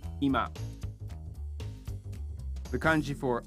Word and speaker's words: 今: This kanji is pronounced ima.